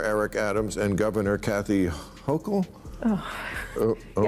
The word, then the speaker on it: Hochul: Uh what do you New Yorkers think of how Mayor Eric Adams and Governor Kathy Hochul Oh. Oh. Yes. Yes, you pronounced it right.